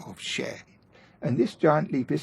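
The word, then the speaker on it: še: Now, the word for barley in Sumerian is pronounced like sheh.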